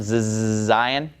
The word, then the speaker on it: Zayin: The pronunciation of Zayin is, obviously the letter makes a Z sound, Zayin.